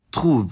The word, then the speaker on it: trouvent: Notably, one of those is the third person plural form, trouve, which I had thought was pronounced differently until I actually took French class. So yes, this particular conjugation category, including in other tenses, has the ent ending pronounced differently than it would be in any other situation in the language.